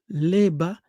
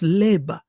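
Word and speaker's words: לֵבָב: So we see leb, right, which means heart, or leba in Hebrew, right? We don't pronounce the B at the end, so it's leba.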